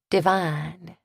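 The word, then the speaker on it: divan: Depending on the season and the deceased, Cleo gifted a nice peach cobbler or caramel cake or an easily freezable chicken Devon, pronounced divine in her family.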